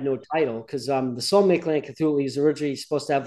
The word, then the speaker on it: Mictlantecuhtli: Now, you're going to have to help me with the next song, the pronunciation. Right. Yeah, Mictlantecuhtli. So, and repeat after me, Mictlantecuhtli.